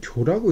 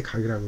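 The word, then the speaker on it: 覺: 장석 보통 이제 잠에서 깼을 땐 교라고 읽는데 누가 그렇게 합니까? 깨달을 때 각이라고 그러고 교라고 그러는데 장석이 잠에서 깨어나서 진기몽하다.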